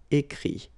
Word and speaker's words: écrit: IRE here, IT. But then phonetically it's I as well, because you don't pronounce the final T, okay? Écrire, écrit.